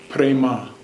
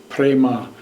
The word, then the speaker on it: prema: of this love the mantra is a hummed prema a hum prema it's spelled a H AM a hum prema peep